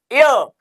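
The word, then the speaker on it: heir: हम यहां पे देखेंगे ये हियर है हियर नहीं है बेटा इसको एच हम क्या करते हैं साइलेंट ये बन जाता है य अगर इसको उर्दू में लिखेंगे तो कैसे लिखेंगे हियर नहीं यर यर को उर्दू में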